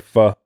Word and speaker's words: pho: Foking or pho. Vietnamese is pho. Vietnamese is pho, but it's spelled PHO, right? Yeah.